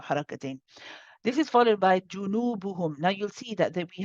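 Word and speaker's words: جُنُوبُهُمْ: Despite the noon having a wow after it and being prolonged, it's still the same oo sound, just longer. So in this case, it's junubuhum, junubuhum. Sister Isha, let's try from the beginning.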